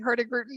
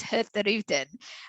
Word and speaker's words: Hurtigruten: Our proper pronunciation is Hurtigruten. It's quite a tongue twister, and you basically have to kind of drop the G within our name, but it's always fun to say.